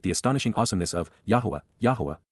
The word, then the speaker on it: Yahowah: astonishing awesomeness of yah yahwah the proper pronunciation of the name of eloah God as directed in his Torah teaching regarding his high existence